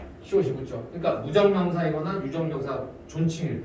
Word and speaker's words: 존: 존. 이거 존이라고 읽어야 되거든.